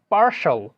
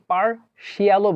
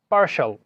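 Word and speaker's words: partial: TIAL এবং CIAL দুইটার সাউন্ডে কিন্তু সেম উচ্চারণ, অর্থাৎ শাল হবে উচ্চারণটা। যেমন আমরা উচ্চারণ করতে পারি যেমন পার্শাল, আমরা কিন্তু অনেকে পার্শিয়ালও বলে বা পার্টিয়ালও বলে, কিন্তু এটার উচ্চারণ হবে পার্শাল।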